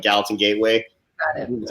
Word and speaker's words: Gallatin Gateway: often, but we're getting married in Big Sky, so like Gallatin Gateway.